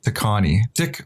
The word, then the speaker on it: Tikaani: today's guest is, and I always butcher this, Tikaani. Yes. You got it, Tikaani. Yeah. I got it right, Tikaani.